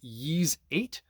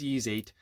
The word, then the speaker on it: Ys: uh expensive this is yeez8 why do they have these names lacrimosa of Dana I have no idea if I'm pronouncing that correctly it's ease 8 it is the uh deluxe edition on PlayStation 5.